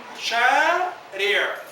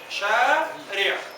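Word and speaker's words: شريعة: Y la ain es casi muda. Shari'a. Shari'a.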